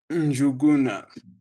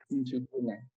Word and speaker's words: Njuguna: Today, join me in welcoming Njuguna. Apparently, I'm failing to respond. How do you pronounce that name? I don't want to butcher it. Njuguna.